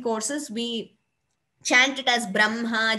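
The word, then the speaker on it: ब्रह्म: very commonly used, where though we write it as Braha and Ma, we pronounce it as Brahma.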